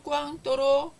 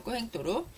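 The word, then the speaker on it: Cointreau: 자, 꾸앵또로, 꽝또로 이렇게 다양하게 발음을 하는데, 자, 꾸앵또로.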